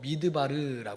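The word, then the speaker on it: מדבר: 하나님과 독하기 위해서 광 히브리어로 미드바르 해요 우리 한번 따라해 볼게요 미드바르 미드바르 그런데이 단어는 두 단어에 합성하거나 미라는 단어예요 또 하나는 바르라는 단어예요게 합쳐져서 미드바르고 발음이 되는 거예요 그럼이 미드바르 아는이 단어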